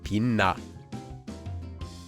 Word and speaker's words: 빛나: So for this word, the 치읓 changes and becomes a nian too, and we get 빛나. This rule makes pronouncing words like this possible.